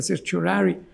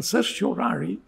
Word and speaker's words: certiorari: Persino la Corte Suprema americana, c'è una procedura che in latino si direbbe certiorari, ma in inglese, in americano si pronuncia certiorari, e che sostanzialmente è una decisione di ammissibilità.